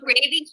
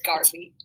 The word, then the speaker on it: Garvey: So look at the first 3 letters of that title. It's Garvey. Rhymes with car. So what is it? It's Garvey.